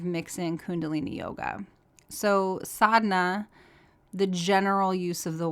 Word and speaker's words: Sadhana: about the transformational power of sadness and so sadhna it's spelled s-a-d-h-a-n-a most often and sadhna is a word has multiple meanings and so the broad sense of sadna is just your spiritual practice and so it